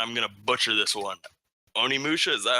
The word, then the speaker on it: Onimusha: Another one being, and I'm gonna butcher this one, Onimusha.